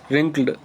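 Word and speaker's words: wrinkled: रिंक्ड या W silent है, इसको रिंकल बोलेंगे।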